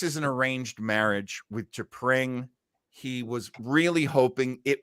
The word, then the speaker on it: T'Pring: And then we meet his mate, and she is, of course, T'Pring. Rhymes with SCHWING.